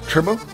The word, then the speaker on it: turbo: ¿Cómo se dice turbo en español? Turbo, right? Turbo. Yeah, turbo. It's the same thing, just kind of roll the R, yeah, you know?